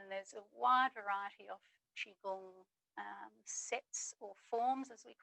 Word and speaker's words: qigong: spellings by the way and i tend to spell it q-i g-o-n-g and it's pronounced qigong just to confuse everyone